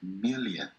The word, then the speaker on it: million: Cuando vean doble L no pronuncian como una L en español. Simplemente Cuando decimos doble L es como que por una L, million, million. Y la O de million es una O que no suena tan redonda, no million,